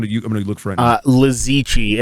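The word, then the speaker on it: Li Ziqi: Lizichi, and the chi is like it's QI.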